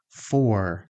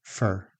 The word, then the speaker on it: for: In connected speech, we say fer. So, repeat after me. Thanks for coming. This is for you. I'm looking for my keys. We waited for an hour. Again, the vowel turns into the schwa.